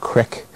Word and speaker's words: creek: You go from E to I, as in we have the word creek, but it's often pronounced crick.